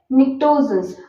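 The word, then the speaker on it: Pnictogens: ये suffocating smell देते हैं, मतलब कि सांस लेने में दिक्कत होती है जब ये आते हैं, ठीक है, निक्टोजेंस। अब यहाँ पे पी साइलेंट है, देखो, इसीलिए इंग्लिश में भी बहुत सारे एक्सेप्शंस है।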